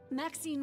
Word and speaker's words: Maxine: Maxine rhymes with queen after all and dearest.